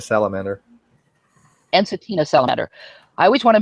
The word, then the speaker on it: Ensatina: I never pronounce the name of the salamanders. Instantina salamander. Ensatina salamander.